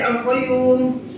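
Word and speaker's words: القيوم: Ingat cara bacanya ada dua ya. Berarti alqayyum. Ikutin Bapak. Alqayyum. Alqayyum. Sekali lagi. Alqayyum. Alqayyum. Ya. Ya. Y-nya ada du dua.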